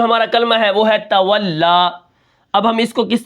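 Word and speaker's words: تولى: کلمہ ہے وہ ہے تولا۔ اب ہم اس کو کس طرح پڑھیں گے؟ اس کے ہجے کس طرح ہوں گے؟ تا زبر تا، واو لام زبر واللام، کھڑا زبر لا، تولا وقفاً تولا۔ اب یہاں پر دیکھیں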